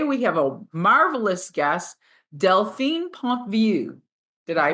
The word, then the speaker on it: Delphine Pontvieux: anymore and today we have a marvelous guest deline Pont view did I pronounce it correctly yes fantastic i' I've heard